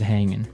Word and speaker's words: hanging: But usually you don't really pronounce the G in this context cuz it's very informal. So, how's it hanging? How's it hanging?